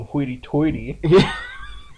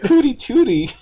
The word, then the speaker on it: hoity-toity: Hooty Hoity-toity? Watch out. It goes back to my speech problem. You made me self-conscious. There's not an R in that word.